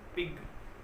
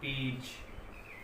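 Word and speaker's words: page: जैसे हमने कहा पेज, देखिए ये पेग नहीं है, पेज।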